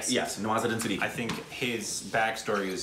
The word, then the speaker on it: Nawazuddin Siddiqui: How do you pronounce it? Nawazuddin Siddiqui? Yes, Nawazuddin Siddiqui.